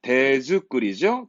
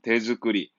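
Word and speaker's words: 手作り: 참가자는 대즈꾸리죠. 대즈꾸리. 손수 만든 의상, 발음 잊지 말고요.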